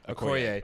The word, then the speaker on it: Okoye: The general Okoye. Okoye.